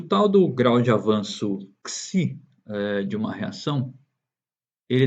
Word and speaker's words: xi: Nós lemos e falamos, pronunciamos como xi.